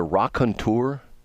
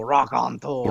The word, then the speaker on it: raconteur: to call him a raconteur? Yeah, that's a great description for Scott. Okay. So you have to say it like you're French, though. Raconteur.